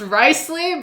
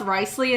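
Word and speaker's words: Wriothesley: in English it's okay so his name is pronounced ricely but it's written like this it's written like Rio thle because English is a horrible language for horrible people but it's pronounced rle in English uh in Chinese they say lios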